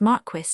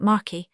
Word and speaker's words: Marquis: The almost perfect state by Don Marque. Don Marque is a real name, not a pseudonym. It is pronounced Marquis, not Marquy.